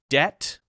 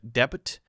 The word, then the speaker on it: debt: start of the word but if the silent letter is at the end of the word often it causes problems two very common ones just to pick examples are debt debt where people will say de debit debit which sounds too